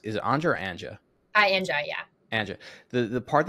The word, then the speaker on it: Anja: So at what point, just from a business model standpoint, the thing that Anja's, and am I pronounced, is it Anja or Anja?